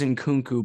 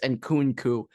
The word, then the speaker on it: Christopher Nkunku: I thought it was Nkunku, but I'm pretty sure it's Nkunku.